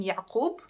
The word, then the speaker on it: Yaqub: appeared on, I'm gonna tell you how to pronounce them. So for now, we have the name Yaqub, as in Jacob, and we have the name Salahuddin.